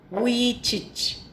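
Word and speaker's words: Vujicic: name of this person his name is Nick we teach it is pronounced as we teach see the spelling it's something different and this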